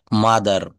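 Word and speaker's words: mother: শব্দের শেষে যদি আর থাকে, তাহলে সেই আর এর উচ্চারণ হবে না। কেমন? শব্দের শেষে আর থাকলে আর এর উচ্চারণ হবে না। যেমন ফাদার, মাদার, সিস্টার, ব্রাদার এর কোনো জায়গায় কিন্তু আমরা আর বলবো না।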